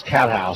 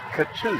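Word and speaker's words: Catthouse: I'm told she pronounces that Cattouse. Cattouse, thank you very much. Cattouse out of Pasadena. Got a C-A-T-T and then House.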